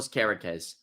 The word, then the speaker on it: Kerkez: the Serbian left back I think it's pronounced kerz Milo kerz what a player there